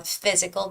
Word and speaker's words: physical: like fixed yourself on physical the word physical but you're right pH is an F sound so you did the